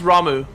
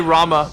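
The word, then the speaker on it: Ramuh: this without you no it's pronounced ramu always has been I used to say Rama but I got corrected once and then this game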